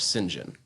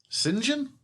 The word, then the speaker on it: St. John: John, even though it's written out like that, is actually pronounced singing. Singen.